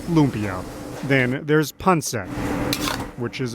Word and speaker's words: lumpia: put up pictures because i don't know what a lapia is and i'm like well it's lumpia and yeah we can